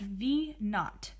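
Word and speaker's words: v₀: the actual variable this next variable here is pronounced v naught the little circle at the bottom corner is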